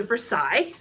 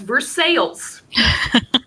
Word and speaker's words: Versailles: um obviously it's rosa versailles that is the french pronunciation um in kentucky we also have a town um that is spelled like versailles but we all refer to it as versailles now that's not a